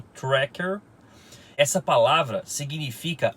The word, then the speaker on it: Tracker: com certeza tá quente gente fala que o certo é trek eu gosto de falar tec a origem do nome é a palavra em inglês que se pronuncia corretamente como tracker essa palavra significa o